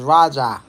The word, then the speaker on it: Raja: His real name Roger. But the way they pronounce it like Jamaicans is Rajah.